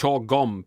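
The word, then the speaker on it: Chorh-Gom: It's spelled CHORHGOM. So it's Chogom Prison.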